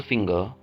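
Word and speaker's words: finger: तो फिंगर के आखिर पे आर आ रहा है। जब भी किसी लफ्ज़ के लास्ट पे आर आता है तो हम उसकी आवाज़ को साइलेंट कर देते हैं।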